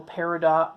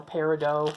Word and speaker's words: peridot: B marquise seven a little peridot colored or peridot depending on how you whether you pronounce it like Steven universe or not anyway a little light